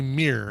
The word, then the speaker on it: mirror: says uh he says you say mirror mirror without saying uh to without making it two syllables um let me think